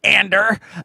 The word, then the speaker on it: Andor: But yeah, I'm so excited to talk about this trailer for Andor, as Stellan Skarsgård says it, which is how I'm going to be pronouncing the show name for the rest of the episode.